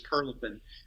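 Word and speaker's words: Prilepin: Louis was big on mispronouncing things, but I think he called the guy Prilipin, but I think it was Perlipin.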